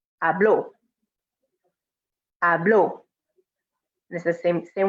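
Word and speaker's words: habló: yo form this one we have to make sure that o is strong because if you say hablo then that means something different that means i speak in present tense but hablo is he she or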